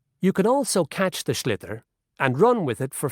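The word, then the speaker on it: sliotar: this ball called a schlitter that's t s-l-i-o-t-a r so it's not spelt the way it's pronounced you hit it into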